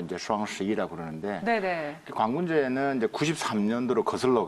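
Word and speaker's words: 双十一: 그걸 중국 발음으로 이제 슈앙11이라고 그러는데, 관군제는 이제 93년도로 거슬러 갑니다.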